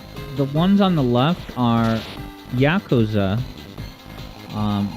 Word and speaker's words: Yakuza: correctly what's that uh Yakuza yeah I was saying Yakuza for the longest time like bazooka I remember when someone